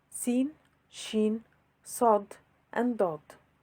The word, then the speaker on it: ش: the ladder before it the letter sheen it is like the letters sh in the word show is pronounced the ladder